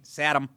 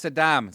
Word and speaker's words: Saddam: That's what the first George Bush did when he said Saddam Hussein. Satam. It's Saddam. sat him just to get